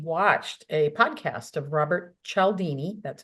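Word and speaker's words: Cialdini: um he actually watched a podcast of Robert chalini that's how you say his name I met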